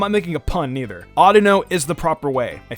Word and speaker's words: Audino: Audino oughta know I didn't know how to pronounce this before I think it's oughta know and I'm I'm making a pun neither Audino is the proper way I think Colburn yeah